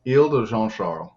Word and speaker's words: Isle de Jean Charles: which is very different yeah so i would pronounce this il de jean charles yes very nice and we have some other